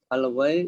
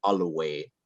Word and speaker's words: always: The word all the way, we don't pronounce all the way. Let no sound, okay? We pronounce always.